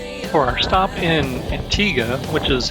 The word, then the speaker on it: Antigua: say good things for our stop in Antigua which is how the locals pronounce the name of the island we decided